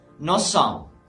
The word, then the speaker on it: nous sommes: If the first word ends with S and the second word starts with S as well, then we pronounce the S like S, okay?